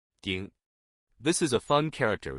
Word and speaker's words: 鼎: In today's video, we'll teach you the Chinese character for cauldron, pronunciation. Ding.